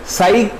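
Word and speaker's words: psi: साई इसको प्रोनाउंस करते हैं, साई सिंबल ये है, साई हमको क्या बताता है, एम्पलीट्यूड ऑफ द वेव।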